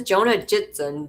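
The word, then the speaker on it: Jonna Jinton: She says Jonah Jitson, but it's spelled JONNAJINTON.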